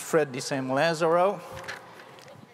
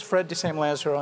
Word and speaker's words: Fred de Sam Lazaro: It's actually pronounced Fred de Sam Lazaro, but that is something that anchormen have struggled with for years. My name is Fred de Sam Lazaro, and I'm director of